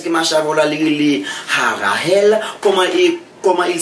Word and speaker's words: Harahel: marche avant la les Harahel, comment il s'écrit? Il s'écrit H-A-R-A-H-E-L. Ou on pas dit E, c'est E. Ça fait me dire E, et me pas dire accent grave tout.